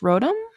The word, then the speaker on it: Rotom: No, I meant like it's pronounced Rotom? Yeah. How do you pronounce it? Rotom, because that's how they pronounce it in the show.